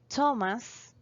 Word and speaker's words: Thomas: We have some exceptions here that words that even though are spelled with the th sounds like the t sound. For example, Thomas, Thailand, and Teresa.